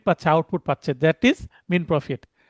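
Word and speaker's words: mesne profit: অন্তবর্তীকালীন মুনাফা ইংরেজি হচ্ছে মিন প্রফিট। এই উচ্চারণটা মিন প্রফিট। এস এর উচ্চারণ হবে না।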